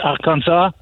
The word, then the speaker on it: Arkansas: It's French pronunciation. Because up till 1803, up till the Louisiana Purchase, these territories were French. And if you were French, you would pronounce it Kansas, Arkansas.